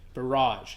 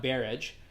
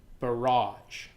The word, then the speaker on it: barrage: the barrage of negative thoughts listen to the pronunciation there barrage it's not barrage barrage the barrage of negative thoughts now what is